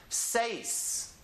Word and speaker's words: seis: have it and then ii say 'yes but put it together as one syllable seis seis siete siete and